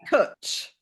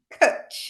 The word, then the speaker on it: cwtch: Is CWTCH, Yeah, it's a which is a Welsh word, which is yeah, cutch. kutch, yeah, a kutch. Cutch.